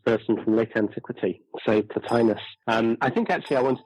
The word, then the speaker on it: Plotinus: I think in the Greek it would be something like Plotinos, but in English the usual pronunciation is Plotinus.